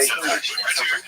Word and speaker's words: yid: Yid means Jew. So that's a Lithuanian pronunciation, Y-I-D, yid.